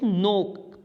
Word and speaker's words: knock: First form जो होती है दैट इज नोक, KNOCK. तो उसकी जो सेकेंड फॉर्म होगी नोक की दैट विल बी नोक्ड. इसमें के जो होता है वो साइलेंट रहता है.